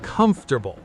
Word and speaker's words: comfortable: It's comfortable. Stress on the first syllable, and notice how the middle kind of disappears in fast, natural speech.